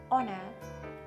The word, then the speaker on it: honor: オーナー最初の H は発音しません。